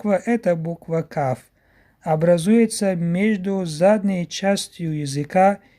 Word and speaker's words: Каф: Каф образуется между основанием языка и мягкой неба. Тоже произносится твердо. Ка, Ки, Ку, Ка, Ки, Ку. Следующая буква – это буква Каф.